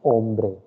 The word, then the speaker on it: hombre: you the pronunciation first h will be silent here again it is ombre okay o is the word from where you will pronounce ombre and the plural will